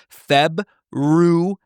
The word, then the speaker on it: February: of the month is febuary there's no R look it up yes there is Feb